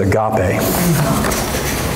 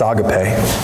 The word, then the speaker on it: agape: Some people mispronounce it agape. It's agape.